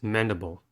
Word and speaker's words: mandible: the nasor is mandible mandible has three syllables and the stresses are the first one the first syllable is men at the first sound of a are the second syllable is the the the first schwa sound reduced from i the second sound of e i e here the last level is ball o dark l the concept between dot